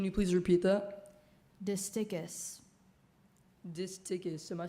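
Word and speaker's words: distichous: Disticus.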